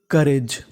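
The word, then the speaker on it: courage: आर ए जी ई करेज करेज यहां पर हमारा ओ और यू साइलेंट रहेगा यानी यहां पर हमें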